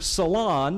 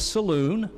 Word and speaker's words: salon: The word salon, where you get your hair done, Luther thought it was saloon.